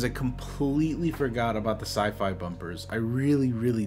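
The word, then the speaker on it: Syfy: because I remember the Sci-Fi channel changing their name to sifi I I know it's still pronounced sci-fi but it's it's it's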